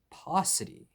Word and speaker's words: paucity: The second word of today is paucity. Paucity rhymes with scarcity.